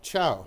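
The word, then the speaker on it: chào: day all of that can be called ciao just like in Italian only it's spelled CH H AO the French in the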